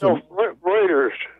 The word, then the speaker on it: Reuters: a German name and in German EU is pronounced like oi in English and the that particular